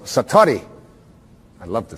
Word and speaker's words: satori: it's called excuse my Japanese but it's called Satori I'd love to say that sat s a